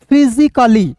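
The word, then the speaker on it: physically: A double L वाई तो क्या पढ़ेंगे दोस्तों फिजिकली क्या पढ़ेंगे फिजिकली पढ़ेंगे दोस्तों फिर देखिए यहां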